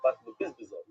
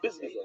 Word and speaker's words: Bizbazin: I don't know. Oish Bishaloi Chipa is the Bizbazin. I know they did a lot of work to get the pronunciation correctly, but Rashi says for sure the Bizbazin with the Nun.